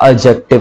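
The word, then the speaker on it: adjective: क्या कहलाता है आपका, एडजेक्टिव कहलाता है। एडजेक्टिव नहीं बोलते, डी साइलेंट होता है, एडजेक्टिव बोलते हैं, ये बात भी मेरी ध्यान रखना।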